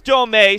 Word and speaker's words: Domey: But it is Domey.